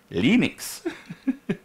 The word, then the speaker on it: Linux: Hello, this is Linus Torvalds, and I pronounce Linux as Linux. Yes, he pronounces Linux, Linux.